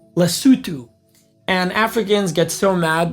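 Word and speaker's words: Lesotho: It's called lutu. And Africans get so mad because most non-Africans say lasso and they're like they can't pronounce the name of our country lutu.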